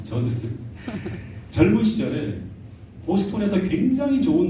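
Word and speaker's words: Judson: 근데 원래 이 아버지 아도니람 저스틴은 이 말이 잘 발음이 안 되는 저드슨입니다. 저드슨.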